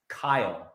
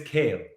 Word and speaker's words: Kyle: And on set, he could not pronounce Kyle. He could not say Kyle MacLachlan's name. He would just keep saying, "Where is Kale?